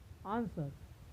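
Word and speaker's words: answer: डब्ल्यू का उच्चारण नहीं होता है, यानी वह साइलेंट होता है। जैसे right, sword, आंसर, wrong, wrist.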